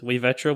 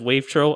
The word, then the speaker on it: wavetro: on the older podcast i originally had my username like pronounced as wayvetro which i was having struggling earlier with because i recently decided after seeing numerous people just say it as wavetro i've officially given up there's no official way to pronounce it you could say wave